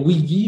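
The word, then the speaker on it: Weegee: Alors, on dit de, je ne sais pas le prononcer, Pamela va peut-être me dire, ça c'est, on doit dire Wiggy, je pense, ça s'écrit W2EG2E, c'est un photographe célèbre américain.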